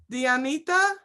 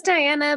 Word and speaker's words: Diana: say your name okay dianita did I say it right yeah my name is Diana but you know they